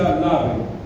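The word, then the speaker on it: לב: El término corazón en el hebreo se pronuncia lave o la B, y se refiere a esto.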